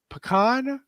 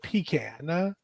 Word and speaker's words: pecan: Do we say pecan or pecan? Well, y'all just make me feel bad when I say it like I say it, because it sounds nasty now. But it is pecan.